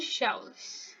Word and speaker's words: joule: Que, na verdade, joules a gente pode falar joule ou july. Joules é errado, digamos assim, a pronúncia.